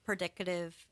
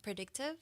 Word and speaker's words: predictive: same thing as um predicative um modeling software and did I pronounce that right it's predicative no predictive predictive thank you predictive modeling